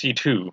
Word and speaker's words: C.C.: Where did they call her CC in the English dub, or where did CC come from? It's just a C and a C. So I just say CC. But apparently it's pronounced C2.